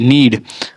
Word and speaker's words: knead: ठीक है, फिर नीड है, KNEAD, नीड, और नाइफ, नाव, नी, नॉलेज, इस प्रकार से हमारा इसका उच्चारण होता है।